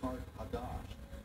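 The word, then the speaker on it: Qart-hadasht: Carthage, in the ancient language, is pronounced Kart-Hadash, and that means new city.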